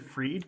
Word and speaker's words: Fried: guy's name again bankman because I say bankman freed but it's spelled like fried which keeps throwing me off Sam bankman freed